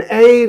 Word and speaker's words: heir: An air you have to say. Okay, it's a silent H word.